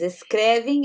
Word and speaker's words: escreve: Observem que aqui eu digo escrevo, né? Só reforçando essa questão da pronúncia, né? Então eu trabalho, eu escrevo, é um som de U no final. E aqui ele escreve, você escreve, né? Com um som de I já no final.